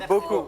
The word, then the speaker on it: beaucoup: Be careful of the pronunciation. Beaucoup. Because Beaucoup. beaucoup means something Oh, else. beaucoup. Beaucoup. Merci beaucoup. Yeah, it's very important, the U sound. Okay. So there. Okay. the P, you don't pronounce the P. Don't because pronounce the P. The last letter.